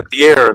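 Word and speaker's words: De'Aaron: Uh, De'aran. I don't know why I always want to call him DeAndre. It's Dearan and I know that, but anytime I get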